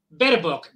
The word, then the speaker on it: Baerbock: alemana, la señora Annalena, ¿el apellido cómo se dice? Baerbock, yo siempre pronuncio mal.